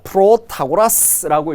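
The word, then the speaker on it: Protagoras: 자, 프로타고라스라고 읽는데요.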